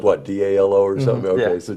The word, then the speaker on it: Dalo: We got Seth Breedlove and we've got Brandon Dalo. I said it right, good. Because it's spelled what, D-A-L-O or something?